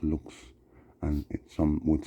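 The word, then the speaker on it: lux: It's spelled L U X, but it's pronounced looks.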